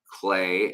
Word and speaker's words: Klee: I've acknowledged Dr. Klee, or Dr. Clay, as it's actually pronounced, but it's spelled Klee.